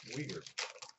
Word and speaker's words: Weegar: Weegar.